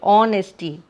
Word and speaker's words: honesty: Here H is silent, so we will pronounce it honesty.